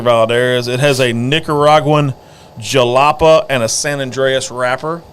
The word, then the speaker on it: Jalapa: and through and through a jalapeno no it's your it's jalapa I think it's how you pronounce it j-a-l-a-p-a oh that's close when you held